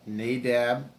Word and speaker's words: Nadab: Nadab and Abihu, thank you. Mm-hmm. I'm very bad with pronouncing Tag team.